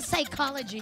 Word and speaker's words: psychology: p yun hippopotamus ganon parang psychology ganon silent p yung simula pero salamat napaka honest